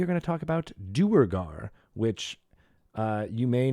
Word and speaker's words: Duergar: am i doing exactly it actually has two canonical pronunciations what it what is unusual one is Durga yeah there is where